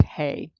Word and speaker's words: ה: this particular God code symbol which again is pronounced hey and it indicates the letter hey signifies the